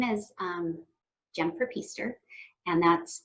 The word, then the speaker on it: Pister: My name is Jennifer Pister, and that's Pister rhymes with Easter.